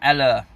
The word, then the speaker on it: Haller: as Jude pointed out there's no H what it is but we don't pronounce it sighs Sebastian eller and literally that's it